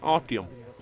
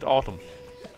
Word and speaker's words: Artyom: That's not how you pronounce my name. My name is pronounced Artyom. You said Artyom.